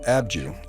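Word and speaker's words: Abdju: The site of Abydos is pronounced Abju in Egyptian, which means the reliquary hill.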